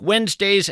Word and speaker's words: Wednesday: If you're in fact scribbling this down, Wednesday is kind of tough to spell. It's not like it sounds. You want to spell it W-E-N-Z, but that, of course, would be a mistake.